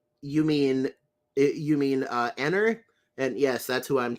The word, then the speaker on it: Eneru: A new guy in the chat, Andy Cantarero, says, you mean Enner? And yes, that's who I'm talking about. Although his name is pronounced in Japanese, Eneru.